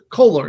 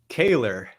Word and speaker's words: Koehler: I'm here with Kohler, It's excuse me. it's And Koehler that's is how it's pronounced, actually. excuse me. Say it again. Koehler. Kaler.